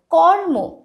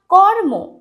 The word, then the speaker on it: কর্ম: ঠিক আছে, ময়ের মাথায় যখন রেফ থাকবে তখন উচ্চারণ কীরকম হবে দেখো, কর্ম, ময়ের মাথায় রেফ আছে, ময়ের আগে আমরা রয়ের উচ্চারণ করব। প্রত্যেকটির ক্ষেত্রে কিন্তু নিয়ম একই। কর্ম, উর্মি, দীর্ঘ উ, ময় রেফ রস্যি, উর্মি।